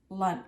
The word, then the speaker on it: lunch: You can hear the CH at the end of lunch. It's different than SH, the sh and shower, or sh and brush. It's lunch, cha, cha. All right, how do you spell it?